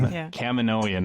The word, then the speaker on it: Kaminoan: she sees this this file and a comedic Kamino Ian Hammond is pronouncing Kaminoan there we go he's talking about how fives